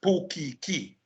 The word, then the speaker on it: pukiki: limited number of phonemes, resulting in Portuguese being pronounced as pukiki. Portuguese in Hawaii is pukiki because there is no t and there is no g. So it becomes k.